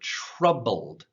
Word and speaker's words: troubled: let's practice this word troubled so two syllables tra like a schwa sound bold bold now that's